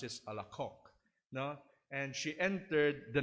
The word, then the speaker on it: Alacoque: Ang spelling niya is Alacoque, but dun sa amin sa France, we pronounce it Alacoque.